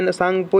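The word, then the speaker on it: Tsangpo: तो अब ये नहीं कहिएगा इसमें टी लिखा हुआ है और टी का उच्चारण क्यों नहीं आ रहा है। देखिए चाइना का उच्चारण है, सांगपो इंडिया का उच्चारण नहीं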